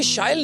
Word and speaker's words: शाइल: So as you just said, it rhymes with style.